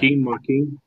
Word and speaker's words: Joaquin: Joaquin. The J is silent. It's pronounced like a W in Spanish.